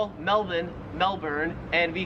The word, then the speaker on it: Melbourne: it wouldn't matter because the Australian accent just leaves the r off if it's ever in the last syllable of a word so you would pronounce Melbourne Melbourne and you would pronounce Karen's